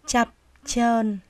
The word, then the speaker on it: chập chờn: cùng đó là từ chập chờn khi đọc cả 2 tiếng chúng ta phát âm là cho chập chờn Đọc lại nào như